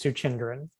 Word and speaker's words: Suchindran: first name is my last name is suchindran can you hear me